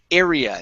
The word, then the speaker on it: area: you're pronouncing this uh start off with an a sound first you're saying ah area okay instead of r area area there you go good so um has a bigger area has a bigger area that's it okay so it's an air sound okay okay all right